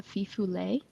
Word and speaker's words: fifolet: one of those is called the fifu um it's spelled like fifolet um okay but it